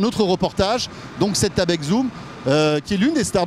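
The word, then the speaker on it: Xoom: Voilà, ça s'écrit Zoom avec un X mais en fait ça se prononce Zoom et c'est une tablette particulièrement évoluée.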